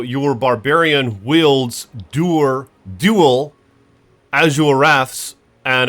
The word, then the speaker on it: Azure Wrath: Azure Wrath. Azure Wraith. Azure Wraith. There's no I. Azure Wrath.